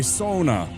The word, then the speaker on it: sauna: was complaining about how all of us call it sauna, but in Finn you guys say sona.